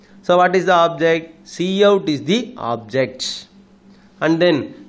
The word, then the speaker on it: cout: First operand is the predefined identifier pronounced as Cout. Pronounced as Cout, that identifies that monitor as the standard output object.